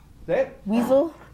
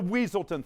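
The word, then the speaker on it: Weselton: Duke always up was upset because they kept mispronouncing his name like this w initialed weasel again weasel weasel the weaselton Thank You hilarya go body system provide assistance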